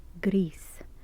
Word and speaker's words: Gris: main character is indeed Greece it means gray in Spanish so it's pronounced Greece it's also the same